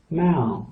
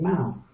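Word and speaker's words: เมาส์: Let's say Mao, and with the S, but the S is silent.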